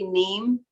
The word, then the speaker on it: neem: It's spelled N like Nancy, E-E-M like Mary, neem.